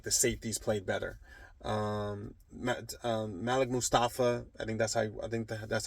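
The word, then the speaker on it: Malik Mustapha: Malik Mustafa, that's how you say his name.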